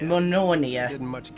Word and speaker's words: Mjolnir: Mjolnir. That's how you pronounce it.